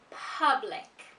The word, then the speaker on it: public: This word is pronounced public. Public. Public. Now, what happens to many speakers of different languages is they pronounce the letter U as a U.